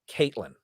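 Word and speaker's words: KVIIIlyn: different dialect um the the name is k sorry capital k capital v i i i l y n and it's pronounced villain caitlyn yeah cause uh roman numerals for eight yeah yeah yeah you know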